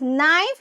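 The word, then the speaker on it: knife: see here yes here के इ silent children so इट इ कॉल्ड एस नाइफ दिस इ द नाइफ नाइफ very good it इज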